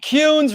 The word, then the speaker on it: Kuhns: bill kunz now bill pronounce your last name better than i did punes rhymes with prunes oh cunes ryan's with prunes i should know that